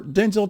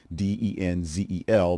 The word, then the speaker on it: Denzel: It is spelled, of course, Denzel, but it's pronounced with a U sound instead of the E sound.